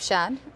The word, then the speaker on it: Schad: kind of develop the area because you have Shad then you have Shad blue am I saying